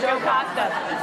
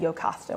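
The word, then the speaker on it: Jocasta: Did I pronounce her name right? Joe Costa. Sorry, I heard it in my head, Yocasta, when I was reading it.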